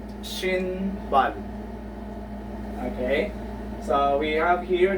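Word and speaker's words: 신발: But in the second example, which is shin, bal, the sound of the real consonant is letter L. Okay?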